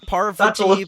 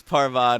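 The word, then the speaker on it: Parvati: Survivor it's confusing but her name is pronounced parva in Potter I forgot that you'd get where I got that pronunciation from yeah yeah it's parvad it really tripped me up ever since I've gotten into Survivor like it makes me always I always read it as parv yeah yeah when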